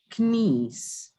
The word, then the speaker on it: knees: Loose fitting cloak or blouse extending to the hips or knees. Knees. Knees. The K is silent.